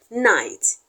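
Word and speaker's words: knight: following each other but the K in night is silent because whenever K comes before an N it is the n that will be head the K will be silent the C will be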